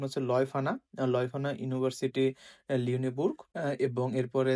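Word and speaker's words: Leuphana: মে আছে দুটো university university of বন এবং লিওফানা লয়ফানা একচুয়ালি এটার উচ্চারণ হচ্ছে লয়ফানা লয়ফানা ইউনিভার্সিটি লিওনেবুর এবং এরপরে থার্টি ফার্স্ট অফ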